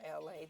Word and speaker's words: Elay: You guys, my name is LA, pronounced like LA, like the city.